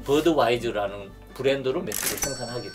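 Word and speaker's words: Budweiser: 그래서 나도 미국 가서 이 맥주를 만들어야지 해서 미국에 와서 맥주를 만들고 미국식 발음인 버드와이저라는 브랜드로 맥주를 생산하게 된 거죠. 독일에서는 부드바이스라고 하는데 이게 독일 영어식으로 하게 되니까 버드와이저가 된 거예요.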